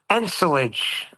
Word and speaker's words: ensilage: I was pronouncing it wrong. Ensilage.